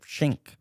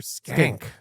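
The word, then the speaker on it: Schenck: Reign you in and how do you pronounce his name Mr skank we were corrected on this I thought it was shank that's what I would have thought too but Dana said it was skank right Mr skank stink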